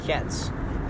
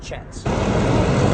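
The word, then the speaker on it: kyat: look at it 1,00 it looks like it would be pronounced cats or kats but they actually would say 1000 chats.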